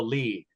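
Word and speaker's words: lede: Yes, many reporters do in fact read press releases, but sometimes they only read the lead. Lead is spelled L-E-D-E.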